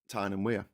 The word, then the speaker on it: Tyne and Wear: How do you pronounce Tyne and Wear? Tyne and Wear.